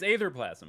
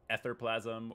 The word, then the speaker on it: Aetherplasm: It is Aetherplasm, by the way, in case anybody's wondering. Not Etherplasm or Atherplasm, but Aetherplasm. And if that's wrong, I don't care. That's the way I choose to pronounce it.